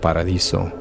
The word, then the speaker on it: Paradiso: back to Paradiso and yes it's pronounced Paradiso think we got an